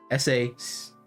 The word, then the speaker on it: sacer: S-A-C-E-R. S-A-C-E-R. But it said sacer, like CH-ish.